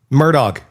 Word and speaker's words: Murdaugh: I I have not been able to think this entire segment because how the is this name pronounced? Murdoch.